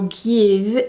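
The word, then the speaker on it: GXVE: discovered this is by gx ve or give is how you pronounce it supposed to pronounce it anyway this is by gwen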